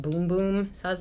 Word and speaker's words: Bum Bum: also got to this I thought it was bum bum cream but the boxes is supposed to be pronounced boom-boom so I was like okay well I like